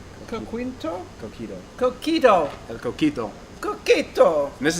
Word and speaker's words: coquito: It's coquito?